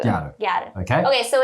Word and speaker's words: ギャル: So the English word, the English word girl, when Japanese pronunciations are plowed, comes out as Gyaru. Gyaru.